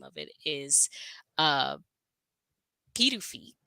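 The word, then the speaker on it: Pituffik: recently the actual name of it is uh kidu kidu it looks like K to me which would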